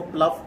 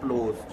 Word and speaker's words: ploughs: बहुत से लोग इसको प्लफ पढ़ते हैं, प्लफ, इसकी प्रोनाउंसिएशन गलत है, इसकी सही प्रोनाउंसिएशन क्या है, प्लोज, ठीक है।